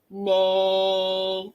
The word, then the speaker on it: make: But remember, we have to have a silent E at the end. She's so bossy. She says the A. A, say your name.